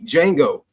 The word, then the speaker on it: Django: Because you can see D in front of the J, and you actually think that you're supposed to pronounce the D because, this is where